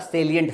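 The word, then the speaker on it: salient: चुप होना एक होता सेलिट फीचर ध्यान रखिए इसको सेलिट बोलते हैं सेलिट एस ए एल आई एनटी सलिंट का मतलब होता है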